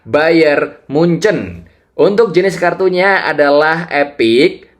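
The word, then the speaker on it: Bayern München: Klubnya mengikuti Munchen RW atau orang-orang bilang Bayer Munek. Kenapa Munek? Ya karena memang begitu tulisannya di Google. Coba deh kalian searching. Tapi yang benar cara bacanya adalah Bayern Munchen.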